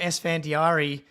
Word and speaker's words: Esfandiari: and so we're welcoming sandari which I was supposed to ask you if I was going to pronounce that correctly before we hopped 10 out 10 out of 10 sir 10 out of